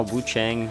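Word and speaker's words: Wuchang: I also saw Wu Chang, and that's how you pronounce it, was on Game Pass.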